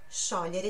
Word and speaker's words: sciogliere: Mas, literalmente, sciogliere, olha aí a pronúncia, sciogliere significa derreter.